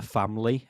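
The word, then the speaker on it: Famleigh: So mine is something called The Family, and family is spelled F-A-M-L-E-I-G-H.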